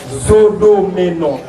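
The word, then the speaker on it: Zodomenou: Quelqu'un a dit Madame Nézodé, mais non, non, la prononciation a été mal faite. Il s'agit bien sûr de Madame Zodomeno.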